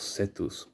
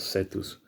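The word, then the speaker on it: Cetus: a constellation in the sky the constellation of setus it's spelled c e t u s setus is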